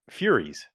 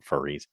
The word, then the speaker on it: Furies: Furies, Furies. I know some people are going to pronounce it furries. For whatever reason, we spell the word the same way.